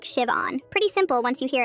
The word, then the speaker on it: Siobhan: The H is silent. It's pronounced like Shivon.